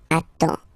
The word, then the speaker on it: attends: You get D and S, well, basically you don't pronounce them, okay? And then you get only the sound attends.